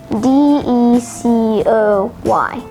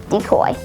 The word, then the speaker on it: decoy: day is decoy spelled d-e-c-o-y decoy there are two alternate pronunciations for decoy decoy decoy decoy is